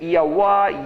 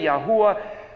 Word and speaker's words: Yahweh: Yod He Vav He pronounced maybe Yahweh, Yahweh, Yahweh, Yahuwah. There's a number of different ways, but the letters are Yod He Vav He.